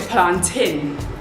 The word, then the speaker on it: plantain: know number four how do you pronounce this plantain or plant in so I pronounce it plant in because I grew up in Leicester which is full of Jamaicans if you know Lester